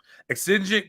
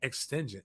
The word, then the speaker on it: exigent: Exigent circumstance. That's how you say it. I had no clue. I thought it was like extingent.